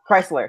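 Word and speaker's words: Kreizler: really no idea back how do you say his name like Oh Chrysler like the car okay now what is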